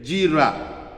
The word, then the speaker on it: Jehovah Jireh: Pronounced Jehovah Jireh, Jira, or Jireh.